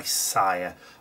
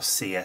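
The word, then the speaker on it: Sia: were actually written by SA or C depending which way you want to pronounce it or how she pronounces it but either way um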